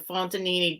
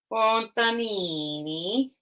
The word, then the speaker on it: Fontanini: And I love, of course, the Fontanini detail is always so amazing.